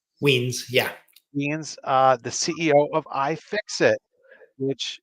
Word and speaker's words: Wiens: Am I pronouncing it right? Wiens, yeah. Wiens, the CEO of iFixit, which is, I'm sure